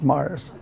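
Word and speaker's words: Moers: sent him to Mars Germany mo ers pronounced Mars they said it's basically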